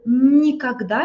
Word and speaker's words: никогда: And никогда, it means never. Никогда, stress is on A, да?